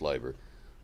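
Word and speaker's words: Leiber: The Inspirations Fritz Liber spelled Liber it's pronounced liver um had faford and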